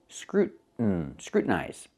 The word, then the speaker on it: scrutinize: But you cannot say scrutinize. I cannot make the T a fast T. Not in this word. Why not? Because you have the TIN. And the TIN is not stressed. So we pronounce it as a stop T and go directly to the N. Scrutinize. We see this sound with other words like kitten and button and cotton.